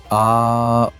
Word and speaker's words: Om: It's three sounds combined. A U M. When you chant Om correctly, you pronounce it aom.